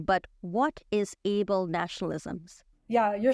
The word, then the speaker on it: ablenationalism: Now, you must tell me if I'm saying this wrong, but what is able-nationalism?